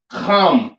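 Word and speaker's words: חם: Africa you understand um pronounced come in the Hebrew um surviving right now of course with the Africans and all right come or ham which means hot serious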